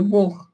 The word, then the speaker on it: бог: А ведь нужно вспомнить, что в слове «бог», например, пишется буква «г», а звук «х».